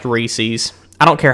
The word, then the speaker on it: Reese's: Now, no matter how you pronounce it, whether it be Reese's or Reese'S, but to get it out of the way, it is pronounced Reese's.